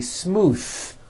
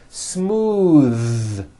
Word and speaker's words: smooth: believe it or not the th sound in smooth is voiced most foreign speakers say this word incorrectly they say smooth with an unvoiced th but it's voiced smooth bath the word Beth